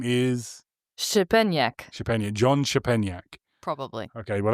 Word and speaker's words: Szczepaniak: The way to pronounce his name is Shepeniak.